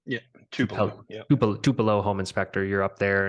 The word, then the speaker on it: Tupelo: when I search for is it two pillow is that how you pronounce it yeah Tupelo home inspector you're up